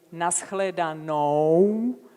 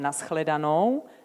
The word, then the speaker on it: nashledanou: In nashledanou, you have seen the kissing one, the U. It's not just O, but it's more of kissing.